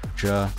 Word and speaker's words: Zhe: That's Chinese, so that's why I'm pronouncing it like Zhe, because that's how you pronounce it in Chinese.